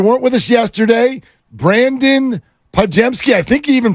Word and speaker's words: Podziemski: If you weren't with us yesterday, Brandin Podziemski, I think you even pronounced it right.